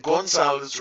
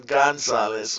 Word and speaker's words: Gonzalez: I misspelled your name before and I keep pronouncing it going south rather than Gonzales okay now I understand okay so everything's all